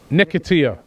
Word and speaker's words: Nketiah: How do you pronounce it again, Ty? Nketiah.